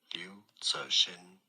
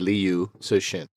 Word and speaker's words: Liu Cixin: And so, I'm going to try and pronounce his name. Hold on. Cixin. Liu Cixin.